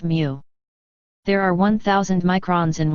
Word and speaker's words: mu: designated by the lowercase greek letter for m pronounced mu there are 1000 microns